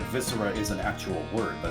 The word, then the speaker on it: viscera: would be yeah viscera is it mystery or is it visco it's it's viscera the blood well i know that's like viscera is an actual word